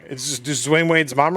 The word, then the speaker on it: Dwyane: His mom said it's pronounced Dwayne. He's Dwayne Wade.